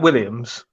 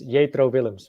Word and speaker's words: Jetro Willems: If I have to pronounce his name in Dutch, it's Jetro Willems.